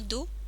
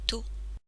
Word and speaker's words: 土: On le prononce généralement do ou to.